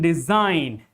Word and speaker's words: design: And like in design, G comes just before N. In all these words, G comes right before, just before N. So G is silent.